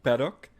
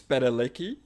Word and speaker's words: Padalecki: misspelled thus butchered completely that's not jared's last name paddock it's pedalicky and jensen echols again